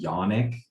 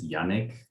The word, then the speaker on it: Yannick: were kids because like people would call me Yannick and it's Yannick. It's like a higher A, I guess. Wait, again. Yeah, wait, what? Like they would say it like it rhymes with like Sonic, like Yannick.